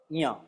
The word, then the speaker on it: ञ: च, छ, ज, झ, ञ। इसका भी उच्चारण थोड़ा सा ध्यान रखें।